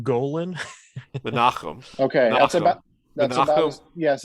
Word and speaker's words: Menahem: name because I can never remember how to pronounce it. It is Menahem Golan. Menachem.